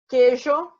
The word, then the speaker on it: queijo: Agora, quando a vogal U não é pronunciada, queijo, quintal, esquecer, por quê? Então, vocês percebem que ele tem o U aqui no meio, tá? O QU, porém, eu não vou pronunciar a letra U.